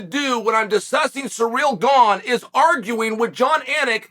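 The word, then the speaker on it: Gane: when I'm discussing surreal gone is arguing with John anik that his last name is pronounced gone instead of gong or gang or gang or anything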